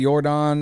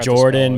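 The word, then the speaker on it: Yordan: right like he's he's I think Jordan is a n at the end all right y-o-r-d-a-n yeah I'm sorry it's like Jordan but Cody didn't spell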